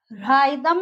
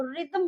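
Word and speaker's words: rhythm: तो यहाँ पे एच जो है राइदम नहीं होता है, वो रिदम बोलते हैं हम उसको।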